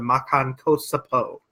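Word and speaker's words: Makankōsappō: The special beam cannon, or in Japanese, the Makan Kosapo. Wow, you actually nailed the pronunciation.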